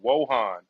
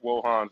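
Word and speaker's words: Wojahn: I believe his name is is pronounced Patrick Wohan.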